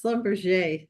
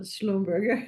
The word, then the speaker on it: Schlumberger: think you did it fine, but I would pronounce Schlumberger, not Schlumberger. You've Oh, given it a German pronunciation, but mm, they're a bit French on that part.